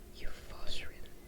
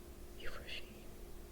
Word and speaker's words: Euphrosyne: Euphosine. There's no R. Yes, there is. Euphosine. Okay, well, if Europa is pronounced like that, oh shoot, my poor neighbor. Euphrosyne.